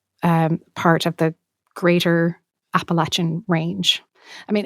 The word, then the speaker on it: Appalachian: narrator who you know he talks in a Southern Appalachian way and by the way I'm using that pronunciation of appalache advisedly that is how people from that area would say it and so that's how I say it as well um where